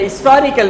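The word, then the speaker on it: historical: Mostly जो Britishers हैं वो एन लगाते हैं। वो एच को प्रोनाउंस नहीं करते। हिस्टोरिकल बिल्डिंग कहते हैं।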